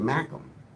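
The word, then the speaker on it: Mackem: I guess the confusion is is that you pronounce it mackum and you spell it m a c k mackum.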